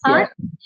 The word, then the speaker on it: HAAD: So when you're talking about these exams, like you have mentioned HAAD, that is hard. Do we pronounce it as hard?